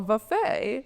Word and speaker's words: buffet: No, a buffet. Buffet. You're going buffet. Like you're emphasizing the wrong syllable.